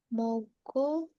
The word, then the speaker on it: 먹고: Nah, di sini kalau giok ketemu giok dibacanya ko. 먹고. Jadi sama-sama double giok ya.